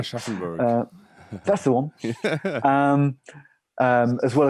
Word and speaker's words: Aschaffenburg: 2012 and we'd played in Aschaffenburg, if I pronounce it correctly. Aschaffenburg.